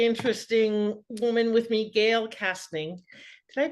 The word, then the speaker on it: Kastning: fascinating really truly interesting woman with me Gail casting did I pronounce that right yeah you did that's awesome